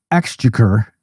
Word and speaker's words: exchequer: a war or something, the head of the exchequer, that's the right way to pronounce that, said, this is the end of Western civilization.